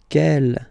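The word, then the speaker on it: quel: Kell here feminine singular will become ke with the s fe feminine plural. And the good news is that you will pronounce them the same way.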